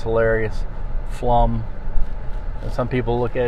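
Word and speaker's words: Pflumm: do you say that pufflom now it's flum the p is silent and it's also i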